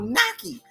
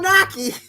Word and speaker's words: gnocchi: It's called Naki. But it starts with a G, okay?